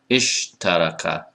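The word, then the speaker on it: اشترك: So you don't want to, for example, right, be pronouncing this word like isatalama, ishataraka. Right? No, that's too many consonants. It's istalama, ishtaraka, iftakhara.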